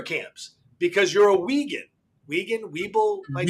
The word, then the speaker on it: Uyghur: Weeble, might say it right? Uyghur, yes.